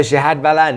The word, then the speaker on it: Shahad Ballan: So Shahad Ballan, did I say it right?